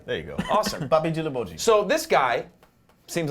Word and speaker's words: Djilobodji: I got the proper pronunciation from Amadou. Djilobodji or Djilobodji? Djilobodji.